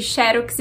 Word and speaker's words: xerox: acontecem são normais agora você perguntou sobre xerox xerox as duas formas são aceitas mas para dizer xerox a gente precisa colocar o acento na primeira sílaba sem o acento E